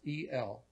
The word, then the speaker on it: El: It's spelled just like it sounds, E-L, El.